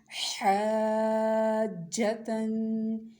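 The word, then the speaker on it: حاجةً: حا الف زبر مد جیم حاج، جیم زبر جا حاج. تا دو زبر تن حاجتن.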